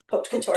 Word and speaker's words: haute couture: Haute couture, Haute.